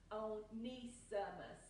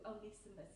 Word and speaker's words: Onesimus: Now, this is a Greek name, so it's pronounced with the E separately.